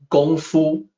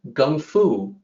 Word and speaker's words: gongfu: in chinese even today gongfu with a g sound the way child system depicted the g sound with the letter k with a notation that it be that should be pronounced unaspirated which means g so it really was supposed to sound like gun fu but academics back in